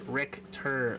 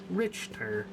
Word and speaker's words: Richter: decision to is play rick tur the h is silent like victor scale oh my bad richter sorry my bad so